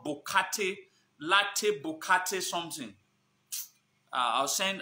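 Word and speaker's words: Borkatey: Bokate, B-O-R-K-A-T-E-Y, Bokate. Latte Bokate. That's how they pronounce it, but I think that's how it is.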